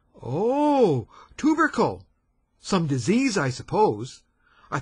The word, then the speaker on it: tubercle: tuu b e r c l e oh tubercle some disease I suppose I thought he had